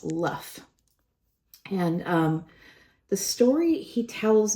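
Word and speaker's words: Loef: He tells me he's 7 years old, and he tells me that his surname is a Dutch surname, and it's spelled L-O-E-F, but it's pronounced Luff.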